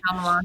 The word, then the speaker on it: Shyamalan: Shyamalan, yeah.